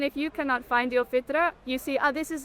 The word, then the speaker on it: fitra: Yeah, the fitra. The fita.